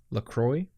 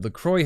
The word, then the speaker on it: La Croix: Called LaCroix. And I think you would actually pronounce it La Croix.